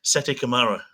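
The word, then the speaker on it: Sette Câmara: But it's SETI Camara. Oh, it's the actual pronunciation.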